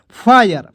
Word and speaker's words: fire: इस तरह से आपको नहीं पढ़ना है FIRE, क्या पढ़ना है फायर फायर, देखिएगा HIRE हायर, देखिएगा एच से हा होगा, IRE आएगा तो उसको उच्चारण आयर के रूप में हा य और र, ठीक है हायर, ठीक है।